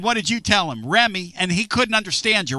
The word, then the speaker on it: Remy: Benny? Remy. Spell that for me.